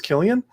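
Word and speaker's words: Cillian: silly and murphy killian it is killian yeah that doesn't follow proper grammar rules but all right killian murphy with a c um was absolutely amazing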